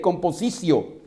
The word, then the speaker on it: compositio: Compositio se escribe y se lee composicio. La T-I-O-cio se lee.